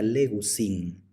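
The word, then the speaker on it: λέγουσιν: La tercera persona del plural es legusin. Aquí tenemos un diptongo, es el diptongo ou, por eso se pronuncia le, gu, si.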